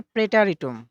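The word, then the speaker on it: Präteritum: এটার উচ্চারণ হবে প্রেটারিটুম।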